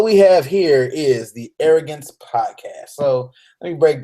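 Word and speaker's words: Aerogents: Anyway, arrogance is spelled AERO, capital GENTS.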